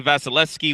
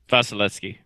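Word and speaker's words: Vasilevskiy: Vasilevsky. Vasilevsky. It's my name, but with V's.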